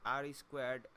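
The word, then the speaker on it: R²: of the questions is called r2 pronounced r squared r2 is often described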